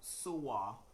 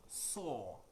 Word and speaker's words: soar: to words having OAR, and so the OAR in that word should be pronounced OR, like the long OR. So it's not SOAR. No, that's not the pronunciation of that word. It is SAW, like SAW. Okay, so the same pronunciation with SAW, yes.